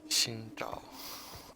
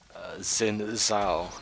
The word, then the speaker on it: Xin Zhao: Put the Bramble on Mr. Xingzhao, as I was instructed to pronounce his name by Chinese people. But for those that don't like the Chinese pronunciation, Xin Zhao is online at the moment.